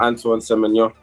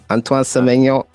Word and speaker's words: Antoine Semenya: Before we go on, can you just give me your name so we know how to pronounce it? Because, the full name. Antoine Semenya. Antoine Semenya.